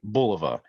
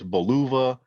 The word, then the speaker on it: Bulova: Bulova actually pronounced and I feel like I'm pronouncing it right Bulova but I've heard it pronounced all different kinds of ways buluva uh below Bulova whatever you know insert your